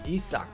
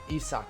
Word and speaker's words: Isaac: he gets some love isaac paredes or they actually say on the broadcast issac paredes so i'm gonna go with that pronunciation i feel like the tigers announcers would know better than i do um so i'm actually going to go with that isak paredes trevor story y'all hey